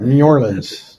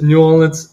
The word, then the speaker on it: New Orleans: to New Orleans did I say that right New Orleans it's New Orleans and um I probably say it wrong um